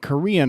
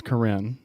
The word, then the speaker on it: Corrine: You're saying this lady's name like Korean. Her name is Corrine Brown. I know how to spell that. Corrine Brown. Corr. I don't think you say Corrine. Brown. I think that's Corinne.